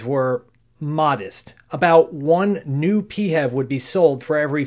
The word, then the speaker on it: PHEV: because Engineers love acronyms it's a peev some will pronounce it fev if you plug it